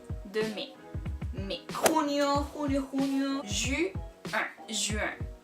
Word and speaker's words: juin: Juin. Juin. Yo sé que es súper raro porque la I casi ni se escucha.